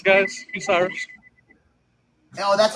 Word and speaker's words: Bucyrus: This is Bucyrus, guys. Bucyrus.